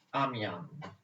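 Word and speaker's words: Amiens: col pace di amiamo si scrive a niente ma si legge a mian d'accordo allora nel 1802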